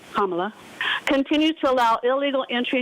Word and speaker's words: Kamala: The open border promoted by border czar Kamala Harris, that's how you say her name, Kamala, continues to allow illegal entry into the country, causing chaos, disruption, and financial pressure on American cities and communities.